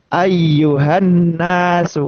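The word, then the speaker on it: أيها الناس: Ini kita bertemu dengan huruf nun tasdid. Nun tasdid itu hukumnya adalah ghunah. Yang dimaksud adalah guna adalah selain ee suara masuk hidung gitu kan ya, juga bermakna menahan nun tasdid itu pengucapan n itu lebih lama.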